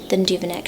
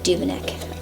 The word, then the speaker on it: Duveneck: I believe Hammershøi had a shorter life than Duveneck, so I think he actually ended up being, one lived within the time span of the other, but very interesting.